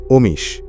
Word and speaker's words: Omis: বাংলায় উচ্চারণ করলে হয় অমিস।